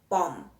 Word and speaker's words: bomb: Then words that end with a silent letter, we've got tomb, we've got thumb, womb, bomb. Then we have dam, hem, column, and autumn. So common letters there, it's the N at the end and the B at the end.